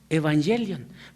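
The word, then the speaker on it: εὐαγγέλιον: de chica que conocemos así empieza se leería evangelion pero el diptongo épsilon ypsilon que parece una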